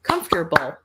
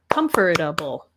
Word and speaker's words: comfortable: next word we have is comfortable or comfortable so three or four syllables depending on how you say it so we'd say